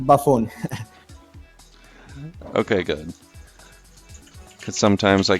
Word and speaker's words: Byfuglien: it was correct ok i pronounce it Byfuglien ok good but sometimes